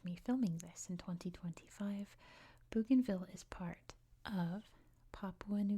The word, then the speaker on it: Bougainville: the history and geography of Bugenville. Now, first of all, this island is pronounced differently depending on where you are in the world.